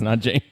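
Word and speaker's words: Nanjing: and Andy said n Jing that's correct it's n Jing and Andy had it spelled correctly yes he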